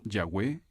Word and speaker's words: Jehová: exacta del nombre original algunos expertos creen que la pronunciación original se parecía más a yahvé que a jehová otros piensan que pudo ser lleva pero cuán importante es